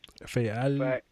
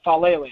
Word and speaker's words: Faalele: Well, it's Faalele.